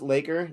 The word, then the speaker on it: LAKR: LAKR pronounced Laker.